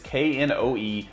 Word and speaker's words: Knoebels: I don't know how to pronounce this one, but coming in at number 8 is Nobles Amusement Resort. It's Knoebels Amusement Resort in Ellisburg, Pennsylvania.